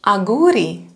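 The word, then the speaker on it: αγγούρι: So two gamma are pronounced like ng, again, like gamma kappa, actually, in the middle of the word. So it can be, let's say, aguri, cucumber, aguri.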